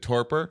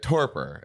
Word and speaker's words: torpor: ago I was reading a little bit about tarpour which is is that how you pronounce it like torpor yep uh torpor I was reading a little I read science